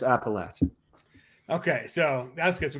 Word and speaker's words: Appalachian: length of your beard skews you towards saying appalachia that's my theory but it's appalachian okay so that's good